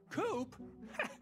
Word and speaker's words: Coop: mister coop you can call me coop coop that rhymes with scoop i think we're gonna